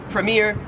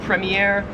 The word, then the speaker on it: premier: 36 is premier or premiier. So in American English, we would say this word as premier. Australian premiier. I honestly I kind of like the way Australians say it more.